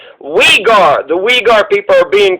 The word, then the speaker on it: Uyghur: this weed guard genocide it's spelled u y g h u r so it looks like u gear u geared genocide but it's wegar the wigar people are